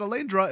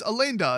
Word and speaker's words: Alainda: Also, her name's not Alaindra, it's Alainda, and I've been saying it wrong for like 2 minutes.